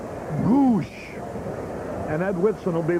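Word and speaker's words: Gwosdz: stop DG the catcher he spells it GW s DZ pronounced gou and Ed witson will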